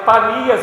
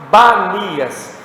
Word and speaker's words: Panias: Aí vai uma curiosidade, muçulmano não consegue falar P, eles não conseguem pronunciar o P, então em vez de eles falarem Panias, eles falavam Banias, mas o nome certo era Panias, porque Panias era